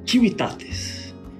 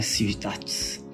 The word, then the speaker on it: civitates: tem aqui também os civitates. É a pronúncia correta no latim, não é civitates.